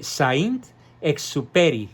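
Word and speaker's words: Saint-Exupéry: extraordinario escritor francés Antoine se pronuncia Antoine de Saint exuperi con y al final Antoine the Sounds Que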